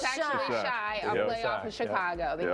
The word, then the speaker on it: Chi: And we're not mispronouncing it, right? Because we thought it was she, but it's actually Shy, a playoff of Chicago, the Healing Shy.